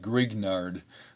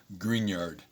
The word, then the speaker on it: Grignard: that's what you think green yard reagent okay not grignard green yard is the appropriate french pronunciation this reagent as we